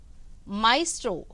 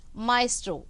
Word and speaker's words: Maestro: Maestro. Just now we learned the pronunciation. Maestro.